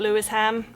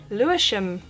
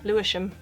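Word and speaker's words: Lewisham: team Fulham next one again this is not Louis ham you know this by now it would be too easy have a guess and I'll tell you it's pronounced leam it's a weird thing when they do that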